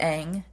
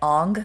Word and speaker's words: Aang: The actors were pronouncing the names wrong. Oh, no. Yeah, they weren't. So the main character is Aang. Yeah. I'm pretty sure they were saying it Ong.